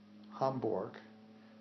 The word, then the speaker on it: Hamburg: parent was from um hamborg which is spelled in English like Hamburg and pronounced hamborg um where did your